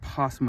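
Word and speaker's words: opossum: A possum even though it has an O in the front. It's pronounced possum with a P.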